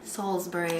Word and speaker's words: Salisbury: Salisbury. Salisbury. That's how they like to pronounce it.